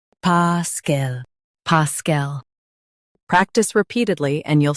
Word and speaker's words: paschal: Stress pa and keep cool, soft. PASCHAL, PASCHAL.